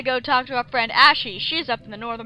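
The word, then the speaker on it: Ashei: I swear I always pronounce it as Ashe. I've always said Ashy because it looks almost exactly like Ashley, except instead of an L-Y, it's got an I.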